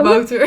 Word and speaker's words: Wouter: pronounce Wouter good. It's like really a Dutch name, and he pronounced pretty good.